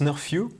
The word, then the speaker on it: Snurfu: bizarre a beaucoup de gens donc ça se prononce nord few ok c'est moi qui ai trouvé le nom